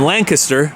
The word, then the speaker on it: Lancaster: So, it's spelled like Castor, but you say it like Kester.